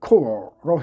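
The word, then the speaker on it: corps: 발음을 cor로 해줍니다.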